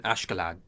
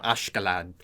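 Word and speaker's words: Askeladd: uh essentially you know the japanese pronunciation of it is a bit different than or you know a japanese voice actor pronouncing it is a bit different than um uh the actual pronunciation of it perhaps um but you know ashkelot is the one that sounds about right to me so i'll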